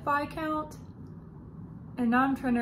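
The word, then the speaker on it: viscount: count who loved me it is pronounced by count right not vizcount i've always said vi count and now i'm trying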